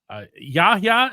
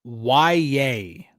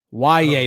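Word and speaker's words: Yahya: Yaha. Is that how you pronounce it? It's It's actually um why yay. Yeah. So it's like why like the question why and then yay like yay why yay black.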